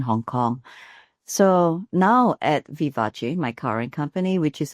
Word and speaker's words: vivace: Now the word uh vivace um pronounced the Italian way it actually refers to a music tempo that's spirited or lively.